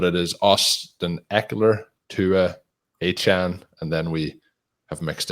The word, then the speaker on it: Achane: It is Achane.